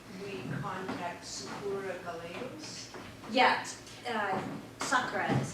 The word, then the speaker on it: Sakura: Yeah, Sakura is how she pronounces it.